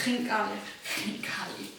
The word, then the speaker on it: Khinkali: that way but I can't how did you pronounce it the first time it's Khinkali you are doing great actually okay that's a